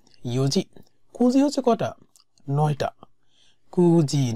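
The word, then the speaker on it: 九時: কুজি নি ওকিমাস্তা মানে 9টা। কিউজি বলে না, ইউনজিও উচ্চারণ করে না।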